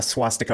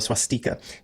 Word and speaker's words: swastika: English it's called a swastika or a swastika. You can pronounce it different ways, swastika or swastika.